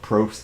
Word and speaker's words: Probst: you andrew so uh i've heard both pronunciations both proofs and props so i just go with props because that's what i've called him for a long time i think that we're